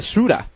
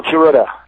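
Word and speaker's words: Tsuruta: winning the AWA world title from jumbo to shrewder at the age of 29 did I pronounce that well I just did I pronounce that right to sorta sorta yeah jumbo Kurata so okay and uh well I you know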